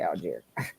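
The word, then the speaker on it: Allgeier: DS Tyler aluy Al do you guys say algy or aler how do you say that Al and the only reason I know that is cuz Atlanta cuz you know my country bumping ass can't pronounce anything but it is definitely aler well good I like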